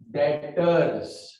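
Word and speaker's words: debtors: इसका दादा का दूसरा नाम है डेटर्स, बी साइलेंट होता है बेटा, डेटर्स।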